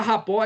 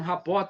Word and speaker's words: rapport: A palavra rapport e a pronúncia é essa mesmo, rapport, tá? Tem pessoas que é rapport. Não, ela é de origem francesa e significa criar harmonia e sintonia com o outro.